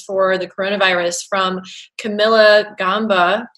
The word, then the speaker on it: Gamba: the coronavirus from Camilla Gamba. Gamba? Either way, in Italian it's Camilla Gamba.